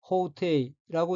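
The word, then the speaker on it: 法廷: 다음 어휘는 한자가 한국어로 법정이고 각기 법 조정자이고 일본어로는 호테이라고 읽으며 호테이는 법정이란 뜻입니다.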